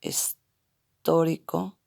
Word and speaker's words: histórico: El contexto histórico, acento en la O, histórico, de las clases en